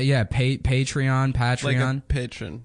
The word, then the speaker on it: Patreon: the patreon I said I used to call it patreon like General patreon yeah that's how I thought you pronounced it and then somebody